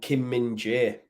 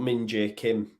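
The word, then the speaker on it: Kim Min-jae: Huang yujo is and Kim minje not Ming J Kim but that whole back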